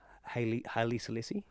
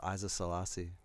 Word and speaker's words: Haile Selassie: How do you say his name? Haile Selassie. Oh, I thought it was Isa Selassie.